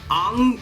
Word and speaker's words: Aang: I feel like Aang calling fucking Avatar like Aang is not the right pronunciation.